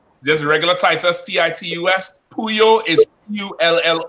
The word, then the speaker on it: Pullo: regular Titus CIT us who you is you ll o configure is pronounced like a y and lots of how